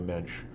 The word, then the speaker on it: mensch: is a compliment as rhymes with the Dench and there was a famous actress Judi Dench if you're having trouble